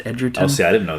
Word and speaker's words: Egerton: It's spelled like Egerton, but it's pronounced Edgerton. Oh, see, I didn't know that. Yeah. I always said Egerton, too.